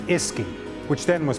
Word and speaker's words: uisce: As the word Uisce Beatha became anglicised, it shortened to Uisce, pronounced Iski, which then was pronounced Fwisky, and eventually the English language, whisky.